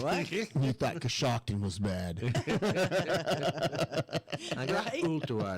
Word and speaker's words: Coshocton: Coshocton. Still trying to pronounce. Coshocton.